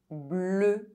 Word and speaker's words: bleu: EU is pronounced E or E. Bleu. Seul. Now, let's talk about how to know when it's pronounced E, its close pronunciation, or E, its open pronunciation.